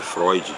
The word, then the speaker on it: Freud: Aqui tem que ser, é Freud, a pronúncia é Freud, né?